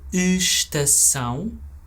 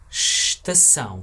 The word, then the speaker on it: estação: Notice how even though the word starts with es, we don't say that first e. We don't say estação, we always say estação. So we kind of ignore the e and we just go right to the s.